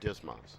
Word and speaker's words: DSMS: Welcome to the training lesson on the Digital Stores Management System, or DSMS, often pronounced DSMAS.